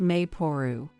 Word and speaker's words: Maple: Written as Maple, but pronounced Maporu.